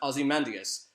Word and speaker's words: Ozymandias: before Watchmen his name is meant to be pronounced Ozymandias I say Ozymandias this I like it he's the smartest man